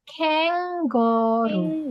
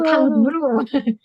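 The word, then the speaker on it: 캥거루: Bukan kang, tapi kenggoru. Jadi bukan kangguru, kenggoru. Kenggoru, bukan kangguru, kenggoru, gitu ya.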